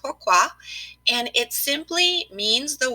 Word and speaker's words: pourquoi: what is pourquoi well it's actually a French word pronounced pourquoi and it simply means